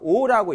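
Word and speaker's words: O: 만나는 점을 원점이고 합니다 5라고 읽어요 0이라고 읽지 않고 그래서 위치를 이제 표시하게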